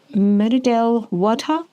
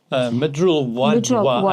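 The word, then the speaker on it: Mridul Wadhwa: Its chief executive officer is a trans-identifying non-binary person, Miradel Wadha. Midrul Wadwa, I think, is the pronunciation.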